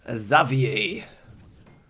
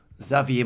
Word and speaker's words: Xavier: gonna start with the xavier xavier mohan which is like the french pronunciation of uh what the english like to call xavier but yeah zavier i